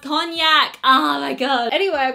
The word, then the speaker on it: cognac: many people came at me when I said coke Mac but it's pronounced cognac oh my god anyway I'm gonna go ahead